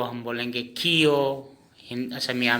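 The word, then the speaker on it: ক্ষ: छिय, जिस छिय होता है हिंदी में छिय, हम असमिया में इसको खियो। क्या बोलेंगे? खियो। इसका उच्चारण खियो लिखेंगे, खियो।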